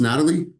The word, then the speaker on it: Natalie: Is it Natalie? Am I saying it right? Because it has an H in it. I make sure don't want to butcher it. Is it pronounced Natalie? Yes, you're pronouncing it right.